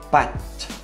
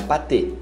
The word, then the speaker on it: pâte: Macarrão, pâte, pâte, não é pâté, pâte.